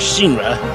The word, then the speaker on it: Shinra: it did work with shinra you know any group this guy hasn't it's pronounced shiro uh the plastic palamako